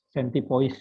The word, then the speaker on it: centipoise: Centipoise ya. Centipoise digabung ya. Poise. Bacanya centipoise ya. Kalau nggak salah bahasa Prancis.